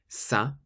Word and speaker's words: ça: Finally, if you see a C with the cedilla, or the little squiggle underneath, then you pronounce it like an S. For example, ça.